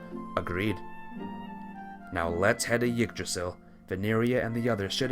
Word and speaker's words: Yggdrasil: Don't pronounce the Y in Yggdrasil. Gigdrasil? Treat it like an I. Yggdrasil.